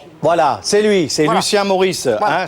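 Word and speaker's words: Morisse: c'est lui c'est Lucien Maurice hein c'est comme les deux prénoms sauf que ça s'écrit pas comme Maurice m o r i de s e c'était évidemment le le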